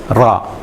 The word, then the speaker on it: راء: You know, a lot of words, but here it's good to pronounce give the ra its space and its time, ra. And if it's in the word, we need to pronounce it r.